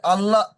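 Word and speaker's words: الله: এখানে আরেকটি কায়দা আছে সেটা হলো এটা হচ্ছে আল্লাহ আল্লাহ শব্দের কায়দা এখানে আল্লাহর উচ্চারণ ল মানে পুর করে পড়তে হবে যেহেতু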